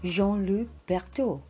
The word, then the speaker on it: Jean-Louis Berthoud: Oh, and that word is reservoir, and you pronounce that gentleman's name, Jean-Louis Berthoud.